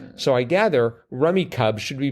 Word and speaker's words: Rummikub: Definitely check this game out, like the card game Rummy, but with tiles. So I gather Rummikub should be pronounced Rummikub. Rummikub.